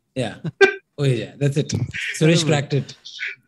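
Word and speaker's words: Ouija: Uija. ठीक है. Uija. आगे जा. Like Gujarati में Suija और यहाँ पे Uija. Yeah. Uija.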